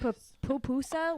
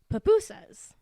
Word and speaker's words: pupusa: I think they're pronounced pupusa, like pu instead of pi.